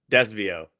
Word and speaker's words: Desvio: Desvio Desvio. Just forget about the middle Portuguese.